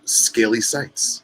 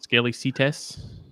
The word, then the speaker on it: Scaly Sights: Braden of Scaly Sights. Did I say that right? Yeah, you said it right.